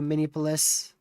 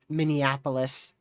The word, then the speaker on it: Minneapolis: Tornado warning continues into Minipolis. Let me mute this. So, if you're in Min Minneapolis, I believe I mispronounced that just a second ago.